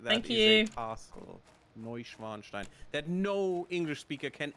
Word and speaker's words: Neuschwanstein: No, I'm already gone Neuschwanstein?